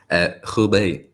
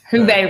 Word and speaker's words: Hubei: guys, COVID lockdown in the, how do you pronounce that area, Kian? Hubei. Hubei region.